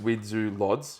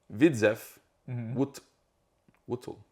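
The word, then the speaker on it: Widzew Łódź: So RTS Widzu Lodz is how I would look at it pronounced in English, Yeah. but according to Wikipedia, it is. So RTS, Widzew Wutl.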